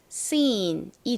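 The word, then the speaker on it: scene: 니은 받침으로 들어가고요 그리고 끝에 2는 뭔가요입니다 뭐 발음 하실 때 신경 쓰지 않으셔도 됩니다 그래서 읽어보면 seen이 되죠 seen이 단어 역시 생활 속에서 자주 쓰이는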